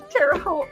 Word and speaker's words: Terre Haute: I don't think Dan was in here when I said that I went to Terre Haute, rhymes with boat.